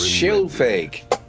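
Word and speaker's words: Scylfig: That's how it's pronounced, Skilfig, not With him Skilfig.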